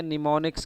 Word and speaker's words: mnemonics: Assembly language आपकी होती है निमोनिक्स की फॉर्म में। MNEMONICS। यहाँ पे M साइलेंट है, तो असेंबली लैंग्वेज में निमोनिक्स यूज़ होते हैं।